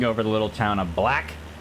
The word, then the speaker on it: Blaich: I think we're passing over the little town of Blaich. B-L-A-I-C-H.